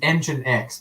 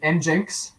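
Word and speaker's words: nginx: always thought it was engine x but i guess it's is it enjinks uh probably i think the correct pronunciation is engine x uh it just is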